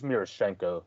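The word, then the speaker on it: Miroshnichenko: the russian-born player ivan mirish i think it's murashenko yeah that murashenko was always how i've said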